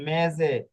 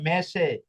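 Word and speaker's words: mese: এটা দেখুন মেজে বা পেজারে হ্যাঁ এখানে যদি আপনি উচ্চারণ না জানেন আর এই মেজের জায়গায় যদি পড়েন মেশে তাহলে কিন্তু বুঝা যাবে না।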